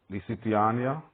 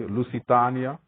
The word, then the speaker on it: Lusitania: planned their trip with the lisitiania saying it correctly Lucitania you know they planned